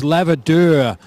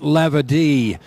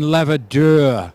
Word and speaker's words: Lavadeur: Looked pretty for a little while, and we've got to apologise, Lavadeur, not Lavadie. Lucien Lavadeur, apparently, is the correct pronunciation.